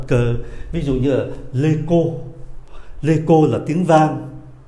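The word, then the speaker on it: écho: CH, CH này, phát âm là cờ.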